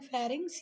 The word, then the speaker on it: pharynx: इसको ये स्पेलिंग के ऊपर नहीं जाना बेटा, इसको पढ़ते हैं फेरिंग्स, ये लैरिंग्स, ये ट्रैकिया, ब्रोंकाई, लंग्स.